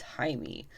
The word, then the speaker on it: Jaime: of Reyes' as well, Jaime. And yes, it is spelled with a J, but it is pronounced Jaime.